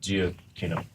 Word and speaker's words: Giacchino: It's spelled Giacchino. I love it. And Jesse decided he wasn't even going to try. Giacchino. Yeah, it's Giacchino. Key. No, it's Key, not Chi. Key.